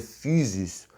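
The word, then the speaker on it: φύσις: tratava da phisis nem que em grego se pronuncia fiz nesse tratava da física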